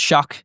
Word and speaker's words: Shough: The things people know about Tyler Shough is that it's pronounced Shough, is the pronunciation of the last name, even though it looks like Shough.